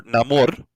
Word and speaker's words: Namor: Because Namor, or Namor, if you want to, go a little with the pronunciation as the movie kind of said, sin amor.